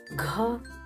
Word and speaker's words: घ: in hindi say to pronounce gha correctly pronounce it as you pronounce gh in english word ghost ghost ghost observe aspiration or her sound here for writing please follow